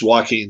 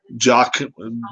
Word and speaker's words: Joaquin: joaquin is prince joaquin i've been pronouncing it with a j now yeah it's walking not jock jockeying or drocking um